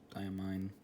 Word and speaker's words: Diamine: ink for today is diamine and that is how it's properly pronounced by a mine ox ox blood which